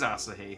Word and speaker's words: Asahi: I guess no, because it is Asahi, thinking Japanese vowel sounds. You. Yeah, it would be the same vowel. Yeah, it would be Asahi.